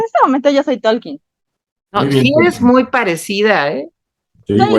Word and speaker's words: Tolkien: claro que este este tolkin que por cierto no se pronuncia Talking pero en la película